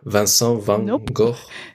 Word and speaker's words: van Gogh: van gogh the painter van gogh uh we pronounced like that marais van gaal no you have to really hurt your throat oh there's only one